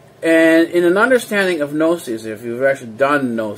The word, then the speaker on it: gnosis: so easily anyways this the greek word is pronounced no sees the g is science just like the way